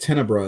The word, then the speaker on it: Tenebre: or opera or yeah tenebre i've heard it pronounced so many ways but they say it tenebra in the movie uh but he could